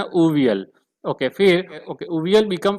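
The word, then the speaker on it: avial: उसको प्रोनाउंस करते ये एवियल लिखा हुआ है, बट आपको उसको प्रोनाउंस करना उवियल, उवियल, क्या प्रोनाउंस करना, उवियल।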